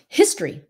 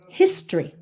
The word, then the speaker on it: history: Nhưng mà cái chữ history, quý vị nghe nó giống như là hai cái syllable thôi, phải không? Không phải là history.